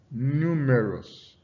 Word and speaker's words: numerous: Similar to the above, words ending in OUS are stressed on the syllable preceding the suffix. So you have something like numerous, numerous, numerous, numerous.